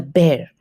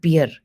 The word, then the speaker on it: bear: The bear. Not beer.